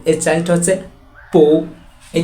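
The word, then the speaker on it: 不: কি এর চেয়েটা হচ্ছে পু এই যে উচ্চারণটা পু এটা কোন সাধারণ কোন দাগ না এটা একটা সেকেন্ড টোন আর উচ্চারণটা হচ্ছে নিচ থেকে উপর দিকে পু পু থায় থাও এখানে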